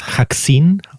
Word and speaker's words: Ha(CK)c1ne: It's Hackzine or something like that. Yes. Yes. Like vaccine, but with hack.